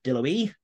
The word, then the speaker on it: Deloitte: Deloitte. You say Deloitte. Okay. Yeah, I'm assuming because it's a French name that I should pronounce it in something vaguely approximating French. But KPMG, who have been